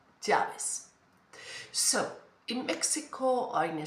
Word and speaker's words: llaves: However, in other countries, for example, Argentina or Uruguay, they pronounce it like ja, Chaves. It's more sound there, Chaves. Next time you listen to Leo Messi, for example, pay attention when he speaks. Ja, that sound. So maybe the pronunciation is like SH, Chaves.